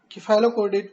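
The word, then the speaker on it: cephalochordate: सबसे पहले हम सिफेलोकॉर्डेट पर आएंगे। सिफेलोकॉर्डेट या इसको किफालोकॉर्डेट भी प्रोनाउंस किया जाता है, जो कि ज़्यादा सही है।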